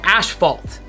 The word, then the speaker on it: asphalt: just address this now I did say asked vol ashphalt ashphalt not asphalt sorry yeah not asphalt I said a sh Paul it's a Canadian way and apparently because if